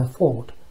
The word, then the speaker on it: fault: 만약 그녀가 죽는다면 It will be my fault. Fault. A는 오소리 납니다. 미국 사람들이 오소리를 자꾸 아소리 내서 fault라고 읽지 않을까 고민이 있는데요. 일단 fault라고 읽더라고요. 그것은 제 잘못입니다.